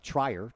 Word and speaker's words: Trier: New Trier, the Trier part is spelled like it looks like Trier, T-R-I-E-R, but it's pronounced Trier.